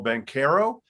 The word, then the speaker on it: Banchero: that interview with paulo bank here now pleased to welcome in duke freshman paolo bencaro i got the pronunciation right this time paulo so i apologize